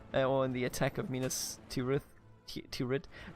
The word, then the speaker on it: Minas Tirith: in the attack of Minas Tirith turret Mina still eat this is how we pronounce it in German okay what do you